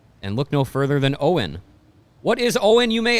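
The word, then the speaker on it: Owyn: in the recovery and look no further than owen what is owen you may ask what's owen mario what is it it's spelled o-w-y-n and it stands for only what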